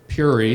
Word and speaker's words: Peoria: The place is Prairie Township, Mahaska County, Iowa, bordered by the tiny farm towns of Peoria, Puri, it's pronounced for locals, on the west, and New Sharon on the east.